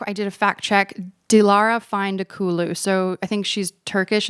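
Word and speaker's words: Dilara Fındıkoğlu: that she wore by, I'm going to like butcher the name of this designer, but it's Dialara Vine de Cool.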